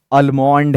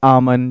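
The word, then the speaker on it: almond: common pronunciation mistakes हो, जैसे बहुत सारे लोग बोलते हैं अलमोंड है, दैट्स आमन, जैसे बहुत सारे लोग ओपन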